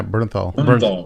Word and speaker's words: Bernthal: Bernthal, is that how you pronounce his name? Yeah, Bernthal.